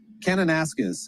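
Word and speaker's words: Kananaskis: David, what's a proper pronunciation there? Canonasis.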